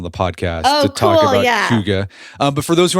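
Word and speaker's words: hygge: It It's spelled h y g for the longest time. I thought it was higgy, but it's huga.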